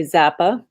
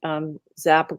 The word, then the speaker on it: XAPA: And then the last chunk of money is from a Delaware corporation called it's spelled XAPA. So I'm going to say Zappa, XAPA.